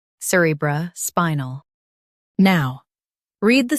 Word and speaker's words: cerebrospinal: Emphasize spy and keep null light.